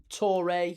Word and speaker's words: Torre: Torre, 2 syllables.